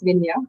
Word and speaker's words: Minhia: It's Minya, but it's anything is fine.